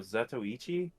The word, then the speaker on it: Zatoichi: Oh, Zatoichi?